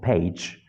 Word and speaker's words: page: at this example she pays ten dollars for her page and page what happens take a look this is Page but you are pronouncing it as pays p-a-y-s a different word now